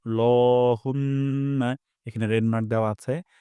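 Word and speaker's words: اللَّهُمَّ: আমরা এখানে লা উচ্চারণ করব না, ল উচ্চারণ করব। নাকাল্ল, ল, লহুম্মা।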